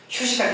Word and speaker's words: HUE: 저희 회사 이름은 보시는 것처럼 HUE 이게 발음이 휴예요. 휴식할 때 휴 있죠.